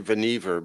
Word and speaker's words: Vannevar: So, by the way, you have to say Vannevar because it rhymes with Leave It to Beaver.